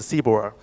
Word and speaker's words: CBOR: The MDL is structured in a format called CBOR, which pronounces CBOR.